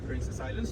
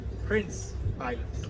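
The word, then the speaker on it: Princes' Islands: call them princess Islands so this is wrongly you shouldn't call them princess Islands you should call them Prince Islands Prince so because of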